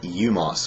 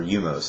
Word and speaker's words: U-Mos: And the one you meet is one called U-Mos, or U-Mos. It's just the letter U hyphen M-O-S.